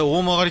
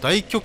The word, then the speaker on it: 大曲: 秋田健人だとこれ絶対大曲がり県って読みますよこれ大極拳とは読まない大曲がり剣えー